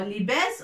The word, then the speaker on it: لباس: لباس. كسرة تحت اللام لكي ننطق لي، فتحة فوق الباء لكي ننطق باء، avec ألف صافي باء، تنوين فوق السين لننطق سن.